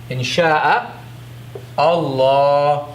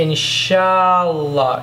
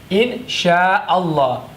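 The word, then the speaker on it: إن شاء الله: They say inshallah. The sha goes to the la. Shallah. Shallah, which is wrong. There's sha and then there's a hamza. So sha and then the ah must be pronounced. Insha'Allah.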